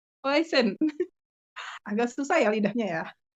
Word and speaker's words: Huijsen: Ada rumor juga nih Mas, seputar pemain kita, ada Dean Huijsen ya, bener ya bacanya? Heisen. Huijsen, agak susah ya lidahnya ya.